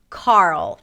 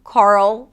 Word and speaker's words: Carl: The reason why it's so tricky is because there is an R sound, and then a dark L. And sometimes this combination is challenging for new speakers of English.